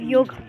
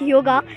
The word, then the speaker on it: yoga: Today I'm here to tell you the importance of yoga. First of all, I will tell you that we are not pronouncing it yoga, we are telling it yog.